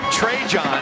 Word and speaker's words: Trajan: His name is pronounced Trajan, but he's named for the former Duke basketball player Trajan Langdon. His dad is a North Carolina fan growing up. Trajan is from Charlotte, but his dad just said